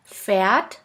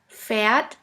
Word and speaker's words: Pferd: Now let's continue with the next letter combination, PF, which sounds like a puff sound. Here we have the example of the word Pferd, which means horse.